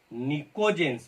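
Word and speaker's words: pnictogens: या बोर्ड पर देखिएगा, निकोजेंस, पी साइलेंट रहता है, ये निकोजेंस, पी साइलेंट है, NI ऐसे लिखूंगा, PNI,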